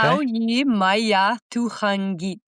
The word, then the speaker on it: Qaujimajatuqangit: Qaujimajatuqangit. The Q is a k, ku, ka sound. It's a k.